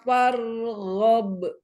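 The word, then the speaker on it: فارغب: Wa ila rabbika farghab. Iya, roknya angkat tafkhim ya, rok sukun sebelumnya fathah.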